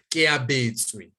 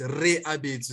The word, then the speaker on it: Reabetswe: No, Keabetswe. Yeah. Yeah. Yeah. Oh. With an R, but it starts with an R. Okay, interesting. Oh, sorry. This one is Reabetswe. Sorry, not Ke.